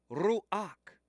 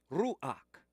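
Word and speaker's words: רוח: word Ru comes from the Hebrew ruak ruak that's your Hebrew pronunciation of Soul the breath when they're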